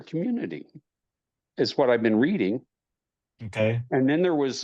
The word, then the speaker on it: Reading: The nearest larger town is called Reading, spelt just like reading, but pronounced Like Reading.